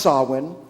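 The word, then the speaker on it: Samhain: harvest festivals particularly sawin spelled s-a-m-h-a-i-n and pronounced sawin a word which means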